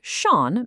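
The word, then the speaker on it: schon: Without the dots, the word shaun means already.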